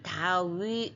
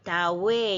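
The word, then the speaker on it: Δαυίδ: 예 뭐예 그다음 읽는게 다우가 아니고 다위 다웨 이렇게 읽어야 됩니다 다웨 웨이드는 그 설명에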